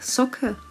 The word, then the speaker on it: soccer: Запомни слова soccer, soccer и muscle, muscle. Исключение.